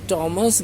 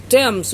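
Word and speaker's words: Thomas: इसमें भी जो कवि हैं थॉमस ग्रे या थॉमस ग्रे, दोनों उच्चारण सही मैंने बताया। थॉमस को थॉमस भी बोलते हैं, क्योंकि इंग्लैंड में जो नदी है टेम्स, उसकी भी स्पेलिंग THAMES है, उसको टेम्स पढ़ते हैं।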